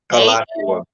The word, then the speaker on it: Alachua: The Florida State Board of Education has sent an order to Broward and Alachua.